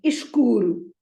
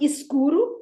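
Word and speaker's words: escuro: like uh the word we learned the word dark green or dark blue is ishquru it is not is Guru it is cool then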